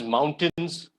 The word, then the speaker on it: mountain: So, Anamika, can you pronounce the words mountains? Mountains. No, you're pronouncing it as ten. It's supposed to be ton.